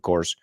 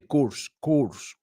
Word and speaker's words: course: Now, why did I tell you I always hear it mispronounced? Well, I've heard people a million times say course. They want to say the O-U. No sé por qué. Bueno, porque está ahí, lo quieren decir.